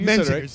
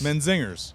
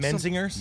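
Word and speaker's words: Menzingers: know you guys are out with zingers right men zingers yes men zingers men zingers men zingers exactly that's how you pronounce it not a lot of people know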